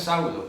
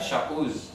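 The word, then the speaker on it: שאול: Pero no es Saulo, ese es el intento griego de pronunciar la palabra Shaul.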